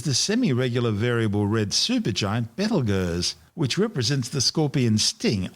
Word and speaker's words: Betelgeuse: Currently known as Betelgeuse, and commonly referred to by the public as Betelgeuse, don't say it 3 times, the names are both tortured mispronunciations of the original Arabic name Ibtal Yauza, meaning the hand of the big man being Orion the Hunter.